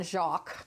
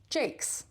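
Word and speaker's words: Jacques: It looks like Brian Jacqu. All right, because that's how it's spelled. But apparently it is pronounced Jake cuz why not? So the the series is was written by Brian Jakes.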